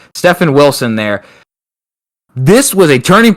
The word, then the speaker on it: Stefan Wilson: craziness from stefan uh stephen wilson that uh sorry there's a guy at work he's got like the same spelling and his name is pronounced differently so i got wrong there stefan wilson there this was a